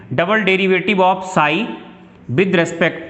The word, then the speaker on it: psi: साई से दिखाते हैं, PSI, साई है ये, P साइलेंट है यहां पर।